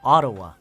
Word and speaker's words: Ottawa: ottawa ottawa okay ottawa so the stress is not it's the stresses on this on the first syllable ottawa ottawa ottawa ottawa okay